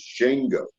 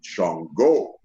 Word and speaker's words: Shango: And the correct pronunciation of it is Shango.